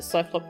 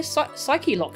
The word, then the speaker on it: Psyche-Lock: You pronounce it Cyclock too? It sounds better that way? Yeah, Psyche-lock sounds weird, doesn't it? I think I'll just pronounce it Cyclock.